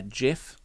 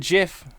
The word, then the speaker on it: GIF: There was quite a Someone shared a a GIF. Mhm. Of course, you always go with You go with GIF, not the hard G.